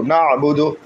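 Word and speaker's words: نعبد: পেশ বু দাল পেশু নাবুদু ইয়াকা নাবুদু নাবুদু নুন আইন জবর না বা পেশু দাল পেশু নাবুদু আমরা কোরআনকে কোরআনের সুরে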